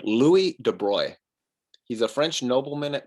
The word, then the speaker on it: de Broglie: nobleman louis de bruy it rhymes with destroy it doesn't look like it would be spelled de bruy but that's pronounced de bruy but that's how it